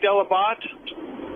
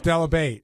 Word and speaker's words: Delabate: Because weren't you like Delabat? No, it was Delabate, and I didn't change it.